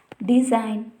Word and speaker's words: design: If you see the condition, the letter G is not pronounced in the combination of GN when it occurs at the beginning and ending of a word. If we see the examples, design, foreign, sign, align, Nash, etc. In all the above words, In GN combination, the G is not pronounced and it is kept as silent.